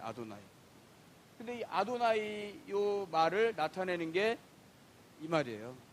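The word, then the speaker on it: אֲדֹנָי: 성경에서이 사람들이 읽을 때 걸 뭐라고 발음하면 이렇게 발음한다고 아도나이 발음해요 아도나이 근데이 아도나이요 말을 나타내는게이 말이에요 큐리오스고 주 주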